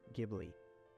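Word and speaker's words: Ghibli: of this relentless wind, which in Arabic is pronounced Gibli.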